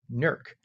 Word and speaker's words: Newark: And as Mike said, 66 degrees in Newark, or as the people there call it, Nerk. Nerk. N-E-R-K. Nerk. Yes, you pronounce it Nerk.